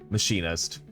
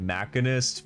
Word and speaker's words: Machinist: It's machinist. I think I kept calling it mechanist because uh Fallout 4's Oh, and Fallout 3.